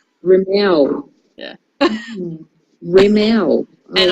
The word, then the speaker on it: Rimmel: And then we find out you don't pronounce it Rimmel, it's Rimmel. Rimmel.